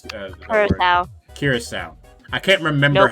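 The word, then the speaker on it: Curaçao: Curacao. Curacao. I can't remember Nope. how it's pronounced. Not cure, just curacao.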